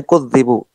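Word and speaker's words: كُذِّبُوا: Al-qira'atul ula, qiraah yang pertama bitasydid, dengan ditasydid. Ai kudzibu. Cara bacanya kudzibu.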